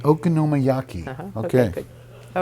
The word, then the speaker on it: Okonomiyaki: They are pronounced Okonomiyaki. Okonomiyaki.